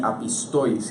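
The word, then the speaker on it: ἀπίστοις: Nos menciona también que los incrédulos, y estos incrédulos viene de una palabra, un vocablo griego que se pronuncia así, apistois, y estos son los que confiesan a Cristo, pero con sus hechos lo niegan.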